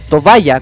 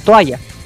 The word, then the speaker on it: toalla: chiquitito, me enseñaron que la palabra tobaya, con B alta entre medio, involucra una hipercorrección, es decir, una palabra inventada por personas que no saben cómo se escribe o cómo se dice la palabra original, que la palabra es toalla.